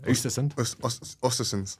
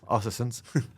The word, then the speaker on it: Östersund: Do you want to pronounce it? Östersund. Östersund.